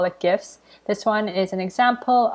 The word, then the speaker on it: GIFs: is the word gifs is actually supposed to be pronounced with a soft j so as gifs but now everyone calls it gifts i just thought that